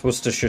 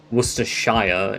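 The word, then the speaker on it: Worcestershire: Can you pronounce Worersha sauce? Yeah, there you go. Worersha or Worershire if you want to say shia for some reason. But worersha.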